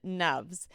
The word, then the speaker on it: Nuvs: Now, let me tell you a bit about this amazing human, Nuvs, which rhymes with loves, by the way, and he loves making a difference in workplace culture.